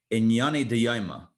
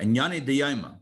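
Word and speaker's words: ענייני דיומא: about what we call Inyane Diyayma. That's how we would pronounce it in yeshiva, Inyane Diyayma, which means Inyane Diyoma, which I don't know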